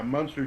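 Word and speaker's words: Muenster: yeah monster cheese yeah it's spelled like m-u-e-n-s-t-e-r you're talking about like monster cheese monster cheese i don't think it's pronounced dude action i'm pretty sure i'm right though like i'm that's that's not a joke i think it genuinely isn't pronounced monster yeah no the cheese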